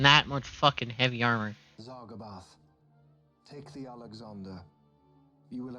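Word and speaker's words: Zargabaath: Zargabath.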